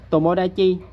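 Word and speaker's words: 友達: Rồi tomodachi là hữu đạt, chứ nó không đọc là chiêu ta trừ nha.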